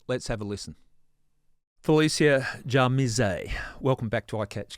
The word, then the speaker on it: Djamirze: I remember when I was in the Supreme Court, they were pronouncing it Jamirez.